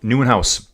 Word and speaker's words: Nieuwenhuis: That's Van Turenhouse, I think. No, Nieuwenhuis. It's Nieuwenhuis. Sorry, not Van Turenau. I think that's Joris Nieuwenhuis just crashed on the corner there into pit lane.